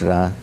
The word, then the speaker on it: Ra: and the Egyptian goldra some say re but it's ra I mean the same people who who who spell it R R E then go and write the name of the Pharaoh ramse Ramis which means issue emanating from Rah so when they say the name of the Pharaoh they say ra but when they say the name of the god they spell it re it's ra it's ra because it also appears